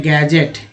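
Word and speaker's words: gadget: Next है गैजेट, डी जी में डी जो है, डी क्या है, डी साइलेंट है, तो दोस्तों जी को जब पढ़ा गया यहाँ पर तो गैजेट हो गया।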